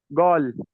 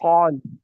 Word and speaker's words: قال: But some people most of the people from Egypt, from Misr, what they say? They would say gol, gol, not Yes. qal, gol. And the people from Iran will say gol, with pronouncing a ghain instead of a qaf.